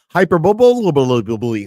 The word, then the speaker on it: hyperbole: It's pronounced like hyperbole.